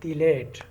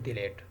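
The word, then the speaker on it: phthalate: तीसरा क्या यूज़ कर सकते हैं, सोडियम हाइड्रोजन तिलेट, सोडियम हाइड्रोजन तिलेट, और उसमें वो पी से स्टार्ट होता है, पी उसमें साइलेंट है, उसका एब्रीवेशन है sorry potassium hydrogen तिलेट, potassium hydrogen तिलेट, potassium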